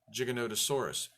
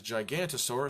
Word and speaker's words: Giganotosaurus: gave it the name Giganotosaurus what does gigolotesaurus mean we've always mispronounced it as gigantasaurus so we just assumed